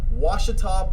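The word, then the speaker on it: Ouachita: titans he went to washita baptist that's o a something like it's it's spelled with a oh and a washita baptist and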